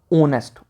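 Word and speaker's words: honest: ठीक है उसके बाद ऑनेस्ट ऑनेस्ट में भी क्या है एच साइलेंट है तो ओ की साउंड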